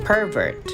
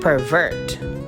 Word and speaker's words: pervert: Now, if you're going to put the stress in the first syllable, it will become a noun. Then we shall pronounce it as pervert.